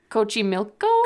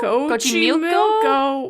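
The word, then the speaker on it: Xochimilco: I think it's Cochimilco? Cochimilco. Why is there an XO in front? I think that's how you pronounce it in Spanish.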